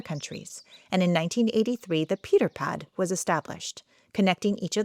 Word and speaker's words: Pieterfietspad: Pieterpad.